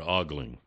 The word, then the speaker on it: ogling: It's not ogling. Are you sure? Yes. It's only one O.